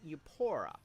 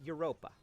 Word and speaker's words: Europa: This is the continent of Europa, although sometimes it's pronounced Eupora, but usually it's Europa.